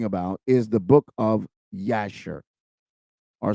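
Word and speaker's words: Yashar: book of yasher or some people call it jasher with a J but for the sake of correctiv I want to call it by its original name in the Hebrew which is yasher it is spelled y a s h a r y a s h a r yasher and I want to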